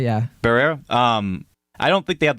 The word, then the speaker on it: Barrera: Ramos and Melissa Barrera, or how do you pronounce her last name? Barrera? Barrera, yeah. Barrera.